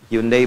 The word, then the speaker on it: Hyundai: Hyundai bacanya Hai.